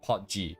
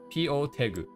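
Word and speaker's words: Po Tegu: In English it's Pot G, but clearly you probably won't say it like that. But they changed this very recently to P-O Tegu. So it's just P-O, and then at the end is Tegu, T-E-G-U. So P-O Tegu is how they want to be called.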